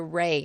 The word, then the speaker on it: Reaugh: going to talk about the ray house okay so and that is spelled r-e-a-u-g-h Not Just Not Just Roy it's kind of a lot of that's a lot of yeah a lot of silent letters from that one okay so this house